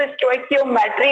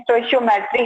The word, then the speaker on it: stoichiometry: देखो इसका जो प्रोनाउंसिएशन अगर आप देखो, कहीं तो स्टोइकियोमेट्री होता है, कहीं स्टोइचियोमेट्री है, तो दोनों प्रोनाउंसिएशन इसके सही है। आई प्रोनाउंस इट एज स्टोइचियोमेट्री। मैं इसको स्टोइचियोमेट्री से प्रोनाउंस करती हूँ, आप स्टोइकियोमेट्री भी कह सकते हो, दोनों टर्म इसके सही माने जाते।